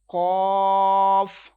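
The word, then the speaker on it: ق: to one second next letter is cough and it will be right with thicker voice as well as it will be stretched equal to three second cough next calf this letter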